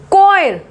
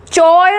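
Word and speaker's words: choir: कॉयर, चॉयर नहीं बोलते ना, कहीं सीएच लगा था, चॉय, कॉयर, कॉयर।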